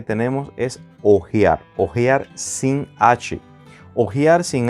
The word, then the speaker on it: hojear: Por ejemplo, cuando decimos, me gustaría ojear el documento. Y tenemos la palabra ojear con H en este caso, que significa cuando se pasan las hojas de una revista, diario o libro.